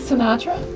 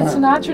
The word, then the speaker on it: Sinatra: So did you know Frank Sinatra? You said it wrong. Frank Sinatra.